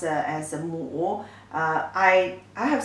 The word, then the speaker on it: 亩: It pronounced as a mu.